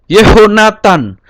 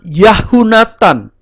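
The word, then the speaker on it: יהונתן: Yehonatan, tidak Yahunatan atau Yahnatan. Ya, kata Yah yang di akhiran itu maka berubah menjadi Yeh.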